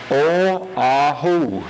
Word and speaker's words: Oahu: That's Oahu, if you're wondering. These Hawaiian pronunciations are really something.